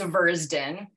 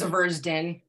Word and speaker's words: Zvirzdin: usually hear it as zversed in which Rhymes if it helps it rhymes with slurps gin or Bird's chin maybe that maybe that